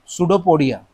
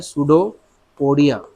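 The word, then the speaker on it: pseudopodia: तो वो हाँ, सुडोपोडिया, पी साइलेंट होता है, सुडोपोडिया।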